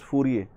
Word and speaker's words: Fourier: Then Fourier series, most of the people calling it Fourier, actually that is the wrong pronunciation, it is Fourier.